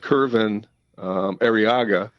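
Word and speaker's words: Kervin Arriaga: And I think it's pronounced Curvin Arriaga.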